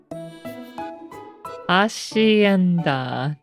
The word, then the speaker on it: hacienda: Is that a hard C or a soft C? Hacienda, I think. Soft C. Hacienda. From Frito Menechip. Quesadilla. Hacienda.